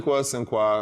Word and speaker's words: Sinqua: You pronounce your name Sinqua. I always say Sinqua, so I'm sure I pronounce it wrong. Sinqua is interchangeable.